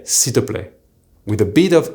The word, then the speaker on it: s'il te plaît: The correct way to say please using tu is s'il te plaît. Now, what happens when we speak is that you'll often hear s'il te plaît. Here, the il completely disappears.